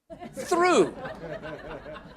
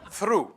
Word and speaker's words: through: no no no what is that through what through through yes okay the th and the r but